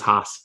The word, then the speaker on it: Haas: Is it Haas? It's Haas, yeah. Haas. It's, yeah. Texas, when I moved down there, everything was Haas.